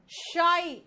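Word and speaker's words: shy: शाई, शाई का मतलब शर्मीला, शाई, ही इज शाई, यानी कि शर्मीला।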